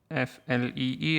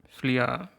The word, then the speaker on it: flea: exactly it is and it's written f l e a but it is pronounced like f l e e and i might slip up and pronounce it as flia occasionally but it but